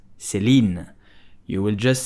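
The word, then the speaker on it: Céline: founded by Celine vipiana so how do you pronounce Celine you will just say Celine Celine SE lean Celine did you know that Celine was founded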